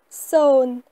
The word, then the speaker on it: សូន្យ: Alors 0 se dit son. Son. Et s'écrit de cette manière-là.